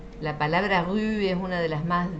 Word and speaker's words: rue: Y la U es como más aguda, como en tu, rue. La palabra rue es una de las más difíciles de pronunciar en francés. A ver, intenten decir tu, rue.